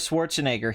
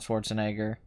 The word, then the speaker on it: Schwarzenegger: there really same with Schwarzenegger he himself pronounces his name the American Way when he is not when he is not in Germany or Austria yeah he does do